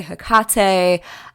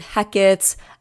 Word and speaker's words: Hecate: me also say that her name can be pronounced differently. So I say Hecate, but there are many people who say Hecate. I've heard Hecate. So just be aware, there's many pronunciations.